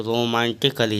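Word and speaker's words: romantically: एन टी आई सी A double एलवाई तो रोमांटिकली यहां पर ए साइलेंट है यहां पर भी ए साइलेंट है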